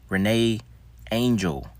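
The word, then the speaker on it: René Angélil: January 2016, David Bowie, Alan Rickman, Renee Angel, that's how you pronounce that.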